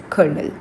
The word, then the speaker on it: colonel: Well, it's a hardearned position and you pronounce it as colonel.